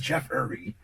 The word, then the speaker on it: Jeffree: Most people mess up and make my first name three syllables.